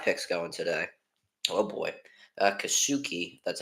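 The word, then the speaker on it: Kikuchi: Oh boy, Kasuki. That's how you pronounce his name for the Astros.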